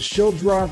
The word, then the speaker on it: Schildroth: Taylor, first of all, did I say it right? Is it Schildroth? I've heard it pronounced differently. You got it.